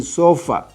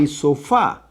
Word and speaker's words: sofá: If I don't put the acento here, I have to say sofa. But if I put the acento here, as I should in Spanish, I will say sofá. That's a palabra aguda, having the stress in the last syllable, carrying acento.